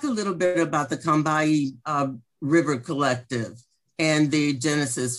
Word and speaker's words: Combahee: come to know is pronounced correctly as Combahee, as if it has two syllables and no O. See, it's pronounced as if it spells C-U-M or K-U-M-B-E-E, Combahee.